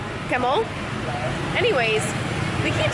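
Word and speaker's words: cảm ơn: All right, we were told that thank you, you say it like camel, like kind of like camel, but a little bit more like a U instead of an E. So like camel, camel.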